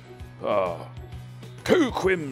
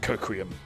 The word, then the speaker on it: Coquim: Coquim spongiform victuals. I'm sorry. I'm being told that's pronounced coquium.